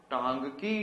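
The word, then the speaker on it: Ntangki: टांगकी tribe. Which tribe is there? N is silent.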